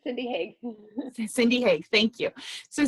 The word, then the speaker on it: Haag: You can pronounce it for me correctly. So she's a certified, say that again. It's Cindy Haag.